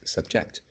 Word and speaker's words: subject: this is subject and you pronounce subject so the stress should be at the first syllable yeah subject ash runs